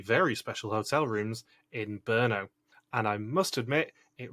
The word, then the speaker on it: Brno: into some very very special hotel rooms in brno and i must admit it really annoyed me rick couldn't say burno properly because i had to look this up